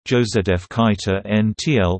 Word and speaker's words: Josef Kajetán Tyl: Josef Kajetán Tyl, the 4th of February 1808 to the 11th of July 1856, Czech pronunciation, Josef Kajetán Tyl, was a significant Czech dramatist, writer, and actor.